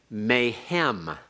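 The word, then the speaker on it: מֵהֶם: Why do we have a tsere? Not just heavy, one other reason. Okay, the guttural hay cannot take a doubling doggish. So then to compensate for the rejection of the doubling doggish, the hirik is heightened to a tsere.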